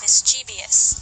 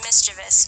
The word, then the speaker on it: mischievous: speakers pronounce it as mischievous. In fact, it's actually pronounced mischievous, with no extra syllable or vowel.